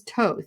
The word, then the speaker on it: Thoth: So I learned how to say that correctly. I used to call it Thoth. It's not right. It is Thoth. So my apologies on earlier videos when I mispronounced it.